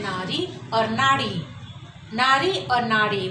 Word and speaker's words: नाड़ी: फिर हमारे पास है नारी और नाड़ी। नारी और नाड़ी, बहुत सारे लोगों की आदत होती है कीड़ा को भी वो र उच्चारण कर देते हैं, लेकिन यहाँ पर लिखने समय हमें शुद्धता का ध्यान रखना है।